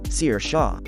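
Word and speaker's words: Sarsha: has finally taught us all how to actually pronounce the name sercia sir shaw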